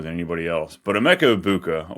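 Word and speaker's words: Egbuka: But Emeka Ibuka, or I guess that's the correct way to say it.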